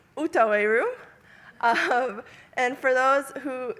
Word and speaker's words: Outaouais: This is the, how do you pronounce it? Outaouais. Outaouais room.